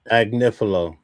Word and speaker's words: Agnifilo: Anifilo. How do you pronounce his last name? Agnifilo.